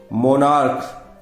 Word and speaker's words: monarch: मोनार्क, CH लिखा हुआ है और CH का प्रोनाउंसिएशन यहां पर हो रहा है क, मोनार्क, राजा, सम्राट, तो इसके MONARCH केवल S लगा करके ही इसका बहुवचन बनेगा।